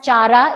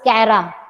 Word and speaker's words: Chara: So don't pronounce it as Chara, it is Cara.